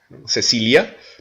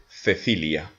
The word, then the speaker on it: Cecilia: Au Mexique, on va dire, en Amérique latine, on va dire Cecilia, mais en Espagne, on va prononcer Cecilia, Cecilia, Cecilia.